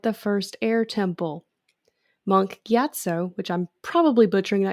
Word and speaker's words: Gyatso: the skeletons at the first air temple monk gyatso which i'm probably butchering that because it's been